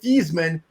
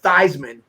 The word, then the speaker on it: Theismann: he's the guy that changed the pronunciation of a guy from joe thiesman to joe theismann you know it was sizing for heisman and joe